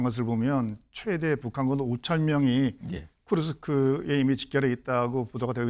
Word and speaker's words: 쿠르스크: 북한군 수천명이 지난 23일 쿠르크스 도착했다 쿠르쿠스 아 제가 발음을 틀렸습니다 쿠르스크 window 쿠르스크 이게 러시아